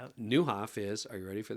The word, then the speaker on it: Nieuwhof: It's Niu W. This is the Dutch word for new.